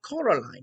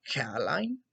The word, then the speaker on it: Coraline: mice they get things wrong they got your name wrong you know they keep saying Coraline not Caroline not Caroline at all he picked up a